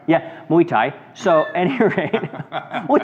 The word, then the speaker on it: Muay Thai: It looks like Muay Thai. Thai, like Thailand. Yeah, Thailand. Muay Thai. Yeah, Muay Thai.